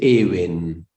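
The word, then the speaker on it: אבן: Ahí dice Eben. Eben es piedra. Ahora les voy a... ¿Ven la palabra ahí? Que la dividí en dos. Sí. Eben.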